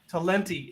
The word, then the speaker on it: Talenti: oh yeah yeah tell and how does it pronounced telling talenti talenti it is yes Cole there is another brand